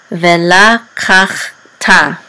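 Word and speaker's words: וְלָקַחְתָּ: which says la, and this is a kuf with a patak with a chet. This is kach, ve la kach, and the shiva is silent. And then this tav with the kamatz under is ta. So vela kach ta, and vela kach ta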